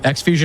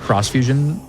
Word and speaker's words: Xfusion: just came out called uh Xfusion or I guess it's pronounced Crossf Fusion and I have thoughts on it.